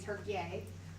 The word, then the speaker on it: Türkiye: So yeah, that was our first, and this is a statue to Ataturk, who was the Turkish country, Türkiye, which is how they prefer it pronounced now.